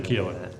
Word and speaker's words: Keohane: No, I'd say Keohane. Yeah. Yeah, wait, is that it? that's the Irish pronunciation. Oh, Keohane.